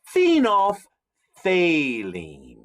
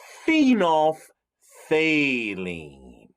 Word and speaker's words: phenolphthalein: part of the word the th phthalene thalene say it with me saline and now put it all together and you've got phenolphthalein say it one more time all together phenolphthalein well phenolphthalein is an